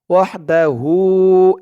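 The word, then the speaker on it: وحده: দর্শক এই হার উপরে একটা পেশ দেওয়া আছে এখানে মূলত উল্টা পেশ হবে উল্টা পেশ হওয়ার কারণে এক আলিফ টান হবে ওয়াহদাহু এমন এক আলিফ টান হবে তো এখানে পেশ উঠে গেছে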